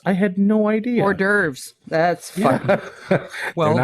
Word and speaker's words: hors d'oeuvres: And it takes somebody actually saying it for you to go, holy shit, that's how that's pronounced. I had no idea. Hors d'oeuvres. That's fun. Well, they're not horse divers?